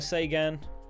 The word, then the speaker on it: Seguin: uh ice battles Tyler Sean yes I realize his surname is pronoun is spelled Seguin JT Miller JT I